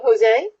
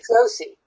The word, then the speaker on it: Josie: to unmute yourself hello Jose can you hear me yesie so it's not Jose it's Josie correct jie yeah that's right